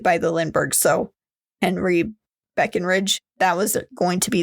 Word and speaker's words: Breckenridge: And Charles Lindbergh even hired a private investigator for himself named Henry Breckenridge. I almost said his name wrong.